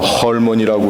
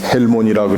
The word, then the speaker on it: 헐몬: 뭐 헐몬이라고 그러든지 헬몬이라고 그랬든지 발음하는 거야 다 같습니다만 이 헐몬이라고 하는 산, 그 이름 자체는 거룩하다는 뜻입니다.